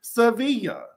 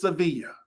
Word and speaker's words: Sevilla: Monkey, you know, like I be having some trouble pronouncing Sevilla. Okay, it's Sevilla.